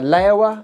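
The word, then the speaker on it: Laowa: there's a company called uh layover i think that's how you say it l-a-o-w-a and they produce a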